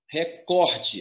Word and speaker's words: recorde: Recorde. A pronúncia é recorde. A sílaba mais forte é o có.